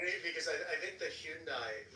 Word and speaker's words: Hyundai: this kind of accent actually pronounce the Y in Hyundai. Like for some reason every other American just goes Hyundai. I'm like what? Hyundai. There's a Y there.